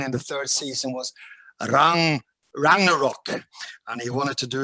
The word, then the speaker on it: Ragnarok: Ragnarok.